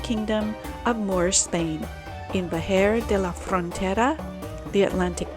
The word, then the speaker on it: Vejer: Vejer. Sí. Otra vez. Vejer.